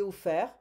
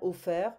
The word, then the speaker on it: offert: J'ai offert. We don't pronounce the T, hein? Ouvert, découvert, offert.